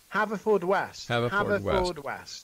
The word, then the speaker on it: Haverfordwest: Haverford? Haverfordwest.